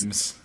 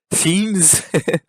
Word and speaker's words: themes: I understand thought you that now said because teams yeah, teams, yeah. or themes. I know you're pronouncing the th like just a T, but it's still You oh you have to say themes.